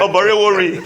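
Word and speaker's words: Oborevwori: So I want to get the correct pronunciation. Oborewori, yeah, that's it.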